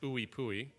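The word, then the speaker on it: IUPUI: Indiana University Purdue University Indianapolis I Pui uh pronounced ooie pooy he said quite a career there because he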